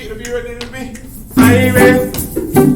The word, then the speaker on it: Irie: Okay, the next thing you're going to say is Irie, and that's spelled I-R-I-E.